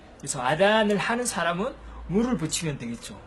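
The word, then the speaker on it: أذان: 그런데 이걸 한국에서는 이제 아잔이라고 하는데 원래 아랍어에서는 아단이라고 해요. 아단. 그래서 아단을 하는 사람은 무를 붙이면 되겠죠.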